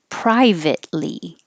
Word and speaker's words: privately: Privately. Don't release the T. Private, hold it, ly.